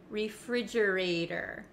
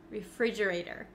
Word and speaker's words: refrigerator: end of this word it becomes a flap te in American English that means it kind of sounds like a soft D sound refrigerator refrigerator refrigerator it's the same